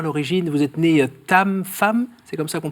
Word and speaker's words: Pham: votre prénom à l'origine, vous êtes né Tam femme, c'est comme ça qu'on prononce ?